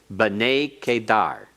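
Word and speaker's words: בני קדר: Notice that we have a accent next to the tsere in b'nei. That is a metheg, showing a secondary accent there. B'nei Kedar. B'nei Kedar. It's still pronounced as one word, but it has secondary accent to help out in the pronunciation because it's so long.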